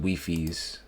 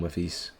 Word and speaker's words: Wifies: Oh, it's called It's pronounced Weiffies. My bad. I called him Wiffies.